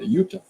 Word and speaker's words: Yuta: I said Juta. Yuta.